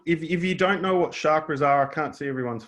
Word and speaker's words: chakra: The Sanskrit word chakra, pronounced chakra, means wheel, which refers to the spinning energy in each of the 7 chakras.